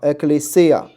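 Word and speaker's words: ἐκκλησία: 啊，ecclesia，这个重音在后面哈，ecclesia 啊，ecclesia 这个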